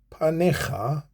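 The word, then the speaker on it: פָּנֶיךָ: Pa ne kha. Panekha. Al tastir panekha mimeni.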